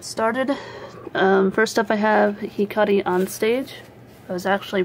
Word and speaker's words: Hikari on Stage: First up I have Hikari on Stage. I was actually pronouncing the name of this manga wrong. I always thought it was Hikari-san Stage. I kind of misread that O as a Sa.